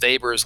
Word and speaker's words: Weber: call weber's law yes another w pronounced with a v this is weber's law if the initial